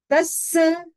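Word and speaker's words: तस्स: पाटी का उच्चारण करेंगे शुद्ध उच्चारण तस डबल स है जोर लगेगा तस धम्मसरिता पड़ कंत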